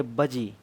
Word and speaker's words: वज्जी: अब आते हैं वज्जी में। वज्जी को हम प्रोनाउंसिएट करेंगे बजी, वजी।